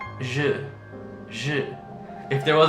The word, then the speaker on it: je: So it's not J. It's not J. It's kind of like a E and an U, like a je.